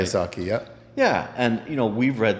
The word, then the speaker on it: Kiyosaki: Kiyosaki, yeah.